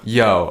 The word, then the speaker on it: Yeoh: Yeoh. Okay, good. We got somebody who can pronounce the last name, because I was like,